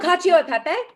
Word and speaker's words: cacio e pepe: It was Cochio e pepe. Oh, cacio e pepe?